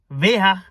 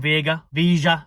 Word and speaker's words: Veiga: Veiga is how the Spanish are pronouncing it. Us English will obviously butcher it and just call him Veiga.